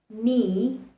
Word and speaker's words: knee: K likes to remain silent when it has N following it. For example, in words like knowledge, knee, kneel, you see there's an N just after the letter K.